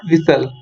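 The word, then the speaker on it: whistle: इसको क्या पढ़ते हैं हम, विसल, विसल। तो दोस्तों विसल से मतलब आपको पता चल गया है कि इसमें साइलेंट क्या हो रहा है, एक तो एच नहीं बोल रहे और एक टी नहीं बोल रहे हैं, तो इसका विकल्प क्या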